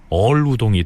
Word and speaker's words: 어을우동: 훈민정음의 발음상 새을자가 리을 발음 역할을 하는 것으로 파악을 하면 잘산군 이렇게 칭해야 한다는 견해가 지배적입니다. 그러니까 어을우동 역시 우리 말에 리을자가 결합한 것으로 보면 얼우동이 되겠죠.